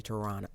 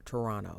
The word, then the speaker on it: Toronto: you're supposed to say Toronto Toronto you're not supposed to pronounce the T spent a little time